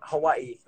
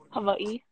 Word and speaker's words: Hawaii: Is it Hawaii or is it Hawaii? Hawaii. Hawaii. See, it's kind of like the W is pronounced as a V.